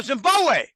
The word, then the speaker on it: Zimbabwe: He said, no, Zimbabwe. The second B in Zimbabwe is silent. It's Zimbabwe.